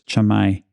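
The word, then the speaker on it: Camai: I had trouble pronouncing it cuz the way it's spelled looks like k i but it's chamai so it's one of those uh weird things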